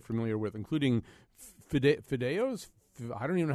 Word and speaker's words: fideos: I did encounter a concept in this cookbook that I just am completely words that I'm not familiar with, including fideos.